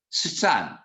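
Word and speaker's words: שטן: It's a Hebrew word, Satan. You spell it Samach, Tet, Nun, Satan.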